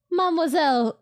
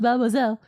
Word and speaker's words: mademoiselle: Right, Mademoiselle. It's a run-on word. I know you're used to having to pronounce the syllables separately, but please string them all together like you got marbles in your mouth, mademoiselle.